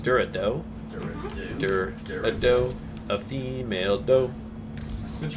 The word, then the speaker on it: Dorado: This is Durado. Yeah, this is it's pronounced Dorado.